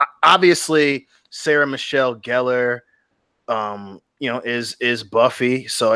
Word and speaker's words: Gellar: Like we're not gonna watch the show if Sarah Michelle Gellar came back. It's pronounced Gellar.